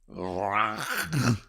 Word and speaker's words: Vranac: But evidently, V-R-A-N-A-C is pronounced Vranac.